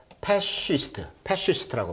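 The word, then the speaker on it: fascist: 그래서 패시스트라고 발음하는데 파시즘의 신봉자, 뭐 독재자 이런 뜻이에요.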